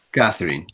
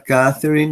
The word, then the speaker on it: Catherine: Ahí está, Catherine, miren. Entonces, esta pronunciación de esa TH es el mismo sonido que nosotros hacemos en inglés cuando decimos gracias, cuando decimos thank you.